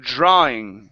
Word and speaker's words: drawing: back drawing room okay so we don't want to add an ooh you're saying drwing instead of drwing it's draing drawing drawing uh-huh so into